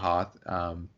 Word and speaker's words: Hoth: funny things about like George Lucas always says host instead of Hoth so all these little